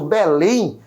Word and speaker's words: Belém: Belém, né? A minha última sílaba ali é proferida com mais força e ali leva também o meu acento.